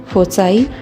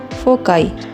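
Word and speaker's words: foci: Crisis, basis, basis, फोकस, फोसाई या फोकाई। इसे फोसाई या फोकाई दोनों ही कह सकते हैं।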